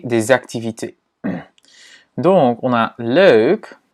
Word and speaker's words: leuk: Donc, on a leuk, leuk, leuk. Et si tu as du mal à prononcer le je pense pas parce qu'en français, on a ce son aussi.